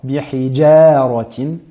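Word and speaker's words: بحجارة: Nous avons dans le verset numéro 4, bihijaratin, et non bihijar, bihijaratin, donc à bien prononcer de manière amincie. parce que nous avons la lettre Ra qui est emphatique juste après, donc on a tendance à prononcer la lettre Jim de manière emphatique.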